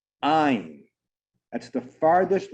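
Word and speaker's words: עין: And it's interesting because the letter ayin, the way it sounds, ayin, is spelt ayin yud nun, and that's the word for eye.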